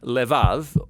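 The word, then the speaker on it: לבב: We're going to look at the fourth key word in this prayer, heart, which in Hebrew is sometimes pronounced levav, or more often in a shorter form, lev.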